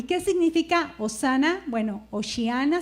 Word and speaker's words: Hosana: Bueno, osana se pronuncia y significa sálvanos ahora o sálvanos ya.